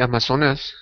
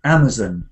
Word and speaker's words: Amazon: uh I think the amazonas yeah well that one has different pronunciations and different stresses so I say Amazon Amazon like this but some people in